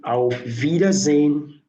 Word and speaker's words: Auf Wiedersehen: The S there sound like Z. Don't worry, later you learn how to pronounce the alphabet. The S sounds like letter Z. Auf Wiedersehen, and the W there sound like letter V.